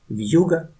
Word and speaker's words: вьюга: Functions of the soft sign are to soften the consonant and to divide the word. Compare a word with a soft sign and without it. Вьюга, вьюга, вью, вьюга, вью, вьюга.